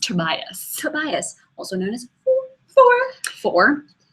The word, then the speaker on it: Tobias: His name is pronounced Tobias.